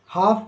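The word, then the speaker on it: half: एम काम यानी शांति एच ए एल एफ हाफ यानी आधा डब्ल्यू ए एल के वोक यानी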